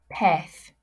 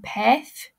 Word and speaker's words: pez: Un pez. Remember, Z's are pronounced like a TH sound. So think back to your phonics from the first week. Un pez.